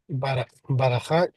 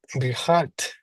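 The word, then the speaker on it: בִּרְכַּת: And take note of the dagesh in the next to last letter of the first word. Okay. Bir, birchat.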